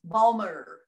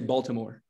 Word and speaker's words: Baltimore: Okay, well, it's pronounced Balmer. The T is silent. Lots of people say Baltimore.